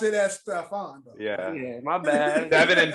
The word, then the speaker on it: Stephon: The Panthers have Stephen Gilmore also. Like Stephon, Stephen. Everybody pronounces be spelling the same way, but all pronounced differently. But he pronounced it as Stephon.